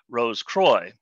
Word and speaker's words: Rose Croix: Rose Croix is French for Rosy Cross, but more often than not, in Masonic circles is pronounced Rose Croix.